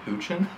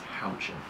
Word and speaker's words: Houchin: no and i said how do you pronounce the name is it hoochin and she goes and she very almost the way you know we do it now since i'm in marketing she said no it's houching and she pronounced it very specifically i remember her face